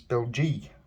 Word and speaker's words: Belgique: The French is Belgique, I-E, at the end.